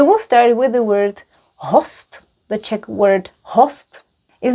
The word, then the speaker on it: host: Gora host. When will our guest arrive? And remember we pronounce it host.